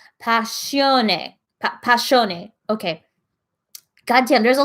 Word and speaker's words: Passione: Passion is pronounced ne. Oh, sorry, I said it wrong. Passione.